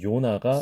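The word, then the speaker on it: יונה: 자, 이것을 우리가 아까 연습했던 Y의 발음을 섞어서 해보면, 요나가 이렇게 발음이 된다면, 그 Y를 발음하는 발음, 히브리식 발음은 요나, 요나.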